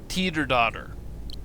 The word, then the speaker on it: Teterdottir: this word right here which is actually pronounced Teeter daughter yeah go figure